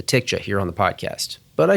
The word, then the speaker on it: TCJA: tax reform and that's how do you pronounce the name as Jayson just said like many tax practitioners we've come to affectionately refer to the tax cuts and Jobs Act as the TIC jahir on the podcast but